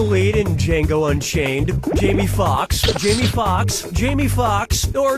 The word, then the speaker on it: Foxx: in Django Unchained Jamie Foxx Jamie Foxx Jamie Foxx or Jamie Foxx Slayers 1 & 2 Jamie Foxx's last name has two x's in it the first X is silent step right up